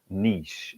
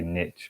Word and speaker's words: niche: talk about niche and i say it the way the french say it because that's the right way to say it whatever some people like to say niche but i'm not one of those people um a lot of